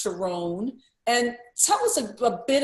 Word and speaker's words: Sharon: It's spelled Sharon, but it's pronounced Sharon.